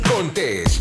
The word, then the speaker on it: Contés: Y con ustedes, Miguel Contés, con acento en la E.